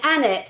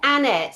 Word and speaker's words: Annett: Annet and that's how you pronounce it, guys. It's Annet.